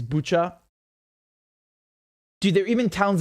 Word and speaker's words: Bucha: i think i think the way to pronounce it in ukraine is is butcher dude there are even